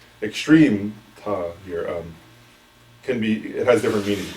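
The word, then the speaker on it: མཐའ: using this word, extreme, which in Tibetan is ta, with a silent M at the beginning.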